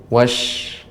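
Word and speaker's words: والشمس: Namun huruf shinnya masih kurang lebih tebal lagi, lebih ditampakkan lagi tafasyinya, menyebarnya suara. Lebih ditampakkan. Wash. Nah, seperti itu. Ya, silakan Ibu langsung ayat kedua.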